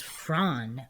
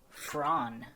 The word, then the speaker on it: Froon: LISANNE FROON, phonetically pronounced as Fran with a hard trilled R, Fran, is tall, 184 centimeters, athletic, and just graduated from University Studies in Applied Psychology.